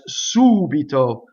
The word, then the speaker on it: subito: would indeed all and there are ones that and on the anti penultimate such as subito see two two syllables from the end right so there are